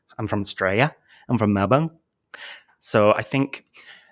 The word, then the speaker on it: Melbourne: from Australia I'm from Melbourne so I think well-spoken Australians call it Melbourne Melbourne do they yes